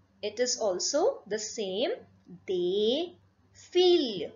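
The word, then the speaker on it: des filles: They feel. Again, this last S will not be pronounced.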